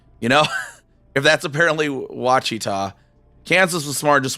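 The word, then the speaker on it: Wichita: I T A you know if that's apparently watchita Kansas was smart and just went no we're just going to spell that how it sounds for most for the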